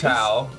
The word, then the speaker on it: Tao: Is that Tao or Dao? Is Tau.